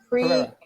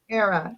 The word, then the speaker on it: Pereira: Pereira. Pereira.